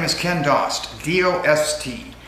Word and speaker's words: Dost: Hello, my name is Ken Dost, D-O-S-T. Actually pronounced Dost, but I prefer the pronunciation of Dost.